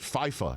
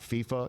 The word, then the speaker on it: FIFA: he would he would called it FIFO not FIFA he called it FIFO